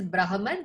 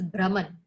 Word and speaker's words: Brahman: This is not pronounced as Brahman, this is Brahman.